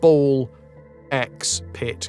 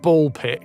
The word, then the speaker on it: BALL x PIT: The normalies the normies call it ball x pit cuz apparently you're not supposed to or they call it ball pit cuz you're not supposed to pronounce the x but the x is